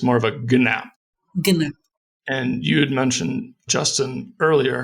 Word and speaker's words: GNAP: you that i think they've agreed on a pronunciation that has sort of a g on the front of it so it's more of a gnap and you'd mentioned justin